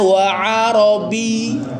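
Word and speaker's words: وعربيّ: Nah, wa arabinya ada tasdidnya enggak? Ynya ada ada tasdidnya sehingga diekan wa arabi ya.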